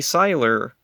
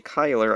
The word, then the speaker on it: Cyler: This one has R.J. Cyler, or R.J. Kyler. I've heard it pronounced both ways.